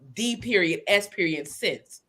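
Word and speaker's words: D.S. Sense: So I said, how about we D.S.SENSE, so that phonetically it sounds like the essence, but it's has sense.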